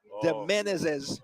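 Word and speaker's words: Demenezes: just not getting it d-e-m-e-n-e-z-e-s the menaces okay maybe i'll take your word for it rick but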